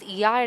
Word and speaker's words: Oia: So apparently, it's Iya and O is silent.